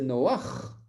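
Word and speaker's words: נח: Quand on dit Noé, en français, c'est Noach. Noach, ça veut dire qu'à la fin, il y a une lettre gutturale. Quand on veut prononcer Noé de la façon hébraïque, il faut dire Noach.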